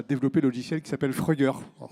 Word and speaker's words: Fruggr: le logiciel qui s'appelle Frugger. Alors, c'est pas facile à lire, mais ça se prononce assez facilement, on dit Frugger.